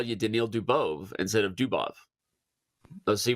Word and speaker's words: Dubov: for a long time I said uh dubove for dubov uhhuh and and I